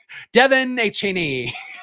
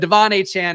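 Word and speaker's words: De'Von Achane: is going to be Devon a Chan Devin hey Cheney have come up with different pronunciations for his name but Devon a Chan is right now I don't know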